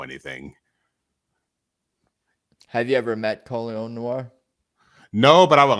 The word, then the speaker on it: Colion Noir: So that's interesting to hear you talk about Colion Noir.